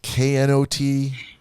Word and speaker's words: knot: normally Well- the K is silent, so it sounds like you're saying not work.